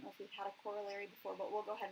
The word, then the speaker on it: corollary: these are actually called corollaries, is how that's pronounced, corollary.